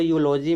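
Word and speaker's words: eulogy: समझाना क्या चाहता हूं यहां देखो यूलॉजी में देखो पहला अक्षर वोवेल है लेकिन इसके पहले आर्टिकल ए लगे क्योंकि य से जो इ से यू का साउंड आ रहा है।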